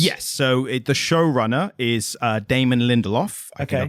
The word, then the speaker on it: Lindelof: So the showrunner is Damon Lindelof. I think I pronounced that correctly.